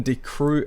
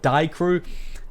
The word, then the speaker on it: Die Crew: in from beat from D crew as always big shout out to ahead of the guy that told me it was D crew not die crew I don't even know